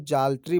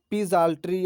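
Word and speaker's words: psaltery: जब चर्च में प्रार्थना गीत गाई जाती है तो उसको जाल्ट्री बोलते हैं। अब देखिए दोस्तों, यहाँ पर पी साइलेंट है, पी जाल्ट्री या पजाल्ट्री इसको नहीं बोलेंगे, हम लोग जाल्ट्री बोलेंगे।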